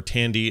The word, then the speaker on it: Thandie: Supporting actress in a drama: Thandie Newton, or Tandy as you're supposed to say, for Westworld.